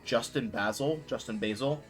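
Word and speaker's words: JustInBasil: recommend a website called Justin Basil, pronouncing that right, but it's just IN, or like the name Justin, and then basil, like the plant basil.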